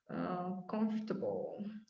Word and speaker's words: comfortable: reasonable untreatable vegetable vegetable comfortable comfortable it's a slightly different sound though comfortable it's not the a sound in there comfortable no you're too many syllables again okay comfortable turbo okay